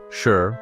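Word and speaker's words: 四: The Japanese word for 4, sure, is pronounced the same as the word for death. Meanwhile, 9, Q, sounds almost identical to the word for suffering or torture.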